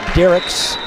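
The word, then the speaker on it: Dierickx: zero ser that's Victoria Derek spells her last name d i e r i c KX unusual spelling and it is pronounced Derek Natty Palmer from the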